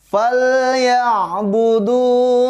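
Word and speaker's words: فَلْيَعْبُدُوا: Selanjutnya di ayat 3, falyabudu rabb hadzal bait. Oke, ada ain mati ya. Kita harus hati-hati baca ain mati, harus berasa betul-betul bahwa itu adalah huruf ain.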